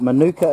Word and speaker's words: manuka: Those that don't know what manuka is, it's spelt M-A-N-U-K-A, manuka, Mike, Alpha, November, Uniform, Kilo, Alpha, manuka.